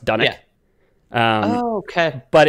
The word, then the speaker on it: Dunwich: it's spelled dunwich uh dunwich is a real town in scotland pronounced done it um oh okay but